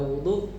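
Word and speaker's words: وُضُوء: Jadi damah pada wau pada wudu pada pendapat yang paling masyhur adalah sebuah nama bagi sebuah perbuatan yang dimaksud di sini itu adalah wudu.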